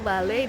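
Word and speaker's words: vale: Bale atau dibacanya eh kan Vi itu dibacanya BKB tapi enggak BB banget kayak balik kayak kayak agak begitu Balai itu bisa berarti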